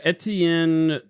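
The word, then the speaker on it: Étienne: Etien.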